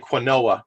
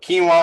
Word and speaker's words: quinoa: It looks like quinoa. It's actually pronounced quinoa, like Jesse knows.